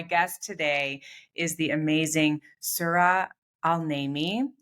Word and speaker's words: Sura Al-Naimi: And my guest today is the amazing Sura Al-Naimi, right?